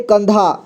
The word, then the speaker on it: कंधा: उच्चारण होगा यहां पे कंधा कंधा लिखा हुआ है तो यहां पे कन कन का उच्चारण हो रहा है ठीक है और देखिए